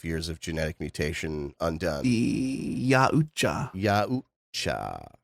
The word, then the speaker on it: Yautja: Yautja. Yautja. It looks like Yaltja if you look at it in writing. Yautja. But it's pronounced Yautja, apparently.